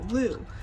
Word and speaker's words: Lugh: celebrating the god um Lou it's spelled l-u-g-h but it's kind of pronounced Lou so that's where you